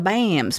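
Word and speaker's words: PBAMS: no no Billy Ruth it's the bams p b a Ms the p is silent bureaucratic power hungry autocratic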